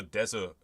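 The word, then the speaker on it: です: bust B um also Des Dr me nuts because some people say it des and some people like there's no they don't pronounce the U and so I'm always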